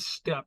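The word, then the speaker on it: steppe: Fairbanks and um you call it the mammoth step now it's spelled s p PE that's a climate zone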